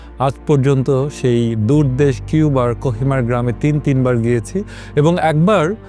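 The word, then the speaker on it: Cojímar: কিন্তু আজকে আমাদের গল্প কিউবার সেই ছোট্ট জেলে গ্রাম কোহিমার, যেটার বানান হচ্ছে COJIMAR, অর্থাৎ কোহিমার হিসেবে বাংলায় লেখা হয়েছে। অনেকে ভুল উচ্চারণে কোজিমারও লিখেছেন, আসলে কোহিমার, কিন্তু আমরা সেটাকে কোহিমার বলবো।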